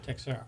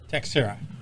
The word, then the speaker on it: Texiera: Texiera. One more time? Texiera.